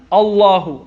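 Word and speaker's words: الله: with the castro and it's pronounced and it's written like a la who is not al Ilah hoo allah hoo allah hoo ok allah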